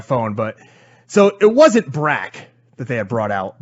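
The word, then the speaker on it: Brak: brac yes brac and you know bro no brac now i want you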